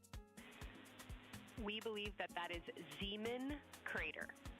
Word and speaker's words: Zeeman: Integrity science, we believe that's Zeeman crater. Oh, I floated away from the speakers hand again, please. We believe that that is Zeeman crater. Zeeman, okay.